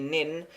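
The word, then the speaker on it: 年: Hong Kong Chinese EG nin year would be pronounced like the English lean try not to stress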